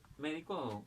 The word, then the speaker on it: médico: Yo tengo la palabra médico, entonces, médico, la mayor fuerza de voz en me, y todas estas palabras van a llevar tilde.